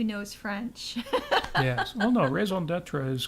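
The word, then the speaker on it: raison d'être: You left out that I was corrected in the pronunciation of raison d'etre, which Raison d'etre.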